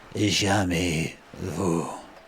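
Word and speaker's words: jamais vu: it for the first time and that is pronounced yumy bour this is Julian the Frenchman who makes French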